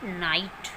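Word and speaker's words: night: Next is जी के बाद एच आए तो जी साइलेंट रहता है। For example नाइट, doctor, फाइट।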